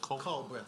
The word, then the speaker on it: Culbreth: Culbreth, C-U-L breath.